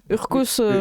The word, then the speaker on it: Urcos: fin je sais pas je sais pas si tu prononces le S ou pas oui on prononce toutes les lettres Urcos les deux se disent oui allez on va le prononcer c'est un Américain donc il dit le S or arrive et en